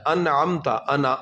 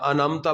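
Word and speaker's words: أنعمت: اچھا انعمتا، انعمتا بات پڑھتے ہیں نہیں، انعمتا عین کا تلفظ اس میں ادا ہونا چاہیے.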